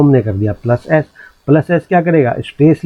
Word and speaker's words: ASCII: इसको प्रोनाउंस करते हैं एस्की के नाम से हम इसको प्रोनाउंस करते हैं।